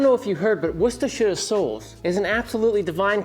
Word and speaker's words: Worcestershire: Worcestershire sauce. God, that's how you say it. I know it. It's Worcestershire sauce.